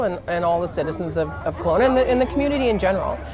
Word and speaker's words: Kelowna: The city is Kelowna. Kelowna, okay.